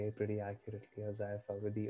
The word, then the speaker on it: Hozaifa: You say it pretty accurately, Hozaifa, with the O silent.